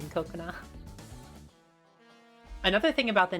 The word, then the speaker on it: Kokona: a lot of people, they say Kokona. So like they say Coco and then like a little gap and then na. Whereas the actual pronunciation that I go for is Kokona, which is like ko and then a little gap and then kona.